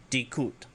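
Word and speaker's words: di'kut: If you want to say idiot, dikut. So the first one is spelled, or idiot, he's an idiot, Kaysh space mirsh space solus.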